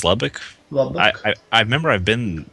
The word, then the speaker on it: Lubbock: and um la book how is it pronounced the book of the book uh i think it's i think it's lubbock i i remember i've